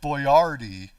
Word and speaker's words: Boyardee: Now, Chef Boyardee, that's how you really pronounce it in Italian, Boyardee, not Boyardee, Boyardee.